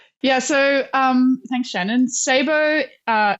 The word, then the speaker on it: Ceibo: let's start there yeah so um thanks Shannon Sabo uh it's spelled c e i b o um and